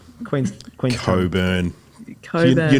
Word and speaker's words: Cockburn: Also, there's a suburb in Perth, definitely spelt Cockburn, and it is the only, they call it Coburn. Coburn, no, that's a thing.